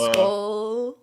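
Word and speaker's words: Skol: But anywho, but we got a bright future Skull. ahead of us. Did I say it right? Skull.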